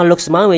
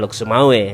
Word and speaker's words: Lhokseumawe: Menariknya lagi nih teman Kongko, nama Lok Sumawe juga terdapat dalam Pengkeh di masa Sultan Jauharul